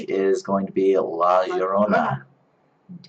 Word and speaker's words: La Llorona: is going to be La Llorona, Indeed. which could be pronounced La Llorona, depending on which Spanish accent you use.